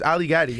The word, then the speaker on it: Ali Gatie: it you got it it Rhymes Ali got it it does Rhyme you know that's the easy way to remember yes yeah it's beautiful